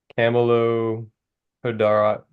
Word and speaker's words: Camelopardalis: Because I couldn't pronounce it. I don't know. I can't say it. I've heard Jeremy say it. Camelopardalis.